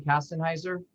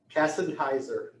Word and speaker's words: Kassenheiser: And I pronouncing your last name Kastenheiser? Kassenheiser. Okay, that's how I said it.